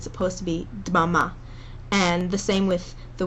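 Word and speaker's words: דממה: And if you're having trouble pronouncing that, you can put a little bit of an I sound in between. So in the first song, there's the word dmama, and you can say dmama.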